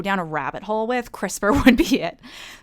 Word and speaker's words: CRISPR: a rabbit hole with crispr would be it it's an acronym so it's spelled c-r-i-s-p-r so it's kind of crisper without the e okay and so what